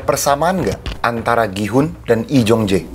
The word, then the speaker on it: Lee Jung-jae: Am I pronouncing your name right? Lee Jong-jae.